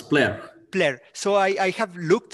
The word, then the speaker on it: Plair: Do you pronounce it right? Plair or Plair? Hello, it's Plair.